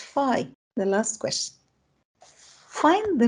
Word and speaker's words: phi: How to pronounce this letter? It's phi.